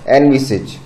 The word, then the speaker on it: envisage: एनविसेज, ये जो word आप देख रहे हैं ENVISAGE, इसका करेक्ट प्रोनाउंसिएशन होता है एनविसेज।